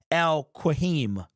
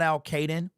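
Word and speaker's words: Al-Quadin: It's like Al-Qahim. It's a very unique pronunciation of his name. It is not Al-Qaeden.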